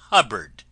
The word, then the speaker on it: Hubbard: This is wonderful Dame Hubbard, name that always rhymes with cupboard.